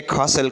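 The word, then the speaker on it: castle: है ballet next है ससल ससल कहते हैं किल्ले को ठीक है इसमें टी साइलें है इसके बाद है गेस्ट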